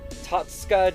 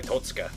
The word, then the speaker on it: Totsuka: So it's probably Totsuka, like that. So, sort of like that, but not Todd. It's Tote, like a tote bag.